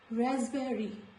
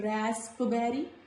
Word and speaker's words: raspberry: Raspberry, not raspberry, raspberry, raspberry. Now let's go to the next letter.